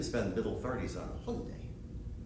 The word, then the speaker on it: Hyundai: You can spend middle 30s on a Hyundai. I talked to a Korean friend and he tells me the pronunciation is Hyundai, but I like my way, it's much more fun.